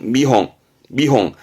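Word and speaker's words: 見本: 본을 견자니까 견본에 캥, 본이니까 홍 할 것 같지만 발음은 미홍. 앞에 거는 뜻으로 읽히고 본다라는 미루의 미, 뒤에 거는 음으로 갑니다.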